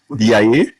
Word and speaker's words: DIA: the award ceremony for Dia that's how you pronounce it Dia um I've worked extensively as you put it